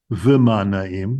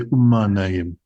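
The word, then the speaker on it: וּמַה נָּעִים: We don't say v'ma na'im, we say umma na'im. It flows more.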